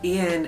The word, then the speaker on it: Yên: My official birth name is Yên, but it's spelled I-A-N, and my parents chose that name because they were like inspired by the Vietnamese version of Yên, Y-E-N.